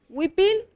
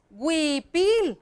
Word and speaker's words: huipil: puedo poner la h lo mismo pasa con huipil huipil yo lo puedo encontrar escrito así pero a la hora que yo lo pronunció digo huipil verdad bien clarito entonces puedo poner la head puedo poner la ley y la diéresis para que diga huipil y está bien no hay ningún